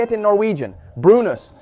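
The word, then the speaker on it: brunost: Brunus. Brunus.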